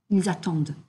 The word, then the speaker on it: attendent: Again, for the ils and elles form of the verbs, the ENT is pronounced E. Ils travaillent, ils finissent, ils attendent. Okay, so we're not hearing that ENT.